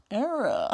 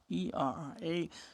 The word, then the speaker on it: ËRRÄ: Era. How do you spell your name? E R R A. E R A. So the spelling Mhm. is totally different from how you pronounce it.